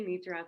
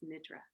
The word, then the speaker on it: Nidra: I say Nidra, but I think correctly it's Nidra.